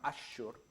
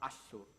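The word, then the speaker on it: Assur: escribe con el shin, los asirios no lo pronunciaban Ashur, lo pronunciaban Asur. Los babilonios lo pronunciarían Ashur, porque lo pronunciarían con el carácter con el que se escribía.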